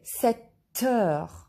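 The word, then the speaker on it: sept heures: P is silent here and we listen T, 7 heures.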